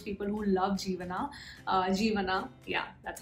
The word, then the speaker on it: Jeevana: bad for those people who love jeevana uh jeevana yeah that's how you pronounce it so i mean because i have